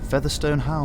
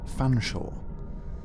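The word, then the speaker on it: Featherstonehaugh: you sir he said Featherstone how my body I would like to book a room for the night please I said please sir it is pronounced Fanshawe let me just check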